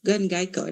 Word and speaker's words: Gangayco: Gangayco, is how you pronounce it.